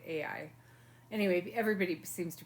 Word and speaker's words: Ai: I would think I was calling it IE last time but I think it's AI I think you say AI anyway everybody seems to